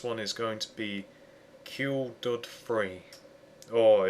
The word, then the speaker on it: Kuledud3: is going to be cured free or if you want to pronounce it properly call dude free but unfortunately he spelled